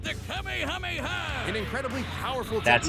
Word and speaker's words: Kamehameha: It helps that he knows so many cool combat moves, like the Kamehameha. An incredibly powerful That's how technique you that pronounce focuses it, one's Fortnite ki into a players.